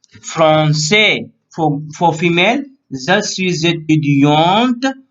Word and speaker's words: étudiante: Okay, so here for the female last word will be so she will pronounce étudiante.